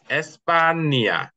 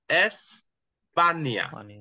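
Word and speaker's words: España: এস পে আ স্পানিয়া এটা আমরা অনেকে বলেন না স্পানিয়া অনেকে স্পানিয়া বলে স্পানিয়া হ্যাঁ এটা হবে কি এস প্রথমে এটা বলবেন ভেঙ্গে ভেঙ্গে বলবেন সমস্যা নাই প্রথমে এটার উচ্চারণ করবেন এটার উচ্চারণ হবে কি এস এস এস পানিয়া এস পানিয়া ওকে কখন এটা না এসপানিয়া এস এসপানিয়া ওকে এখানে অনেকে যে এটা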